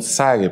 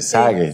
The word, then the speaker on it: Zague: años el español Exactamente Bueno en portugués sería y en español zague porque la diferencia es que en portugués la seta si se pronuncia muy marcada no y aquí se pronuncia como ese zague no entonces en portugués